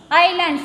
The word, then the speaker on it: island: Island. Here what is, what letter is silent? S.